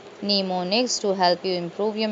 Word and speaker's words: mnemonics: There are a number of strategies for improving memory called mnemonics, pronounced mnemonics to help you improve your memory.